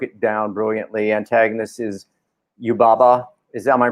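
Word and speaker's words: Yubaba: great alexi broke it down brilliantly antagonist is you baba is that my pronounce that correct alexi yep that's it and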